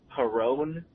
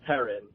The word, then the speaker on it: Perron: original Conjuring movie, and you kept pronouncing it Perron. It's actually pronounced Perrin, and every time I heard you do it, I wanted to rip my ears out.